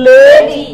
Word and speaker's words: lady: জন্য কিন্তু এটা গুরুত্বপূর্ণ this is নট লেডি this is লেডি Lady.